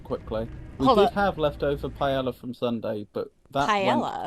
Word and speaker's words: paella: I've never heard it pronounced like that. I forget what it is, but exactly, but I've only ever heard it pronounced paella.